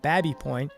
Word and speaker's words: Baby Point: I'd heard they filmed in the Baby Point neighborhood, which apparently is locally pronounced Babby Point, and I was ready